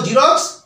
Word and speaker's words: Xerox: ই আর এক্স বলতে পারি এটা হলো সঠিক উচ্চারণ এবং তার বাংলা হলো জিরোক্স জেরক্স কিন্তু জেরক্স নয় বর্গীচকার র কয় দন্তস